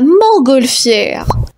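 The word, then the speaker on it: montgolfière: enchaîne 21 mots la mangolfière mangolfière attention il y a des lettres muettes la mangolfière et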